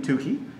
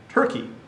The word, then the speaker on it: Tukey: Now you see the name, Tukey. It's pronounced Tukey, not Turkey. I've had many students who have said, hey, I gotta do that Turkey follow-up. No, it's a Tukey's post hoc test.